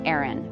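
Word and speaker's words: Aryn: Her name is spelled A R Y N, pronounced Aaron.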